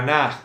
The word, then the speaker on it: na: And this equals no vale para nada. Ok. Don't forget. It's like it's worthless. It's No vale para worthless, nada. no vale para nada. You also can say na, for example.